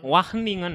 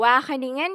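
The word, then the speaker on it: Wageningen: Wah, Waheningen. Wahningen. Heeh. Tulisannya Wage tapi bacanya betul. Wahingen University.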